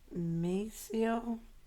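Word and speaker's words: Maceo: last name it's uh i don't want to mispronounce it it's mayceo m-a-c-e-o m-a-c-o west west give a shout-out to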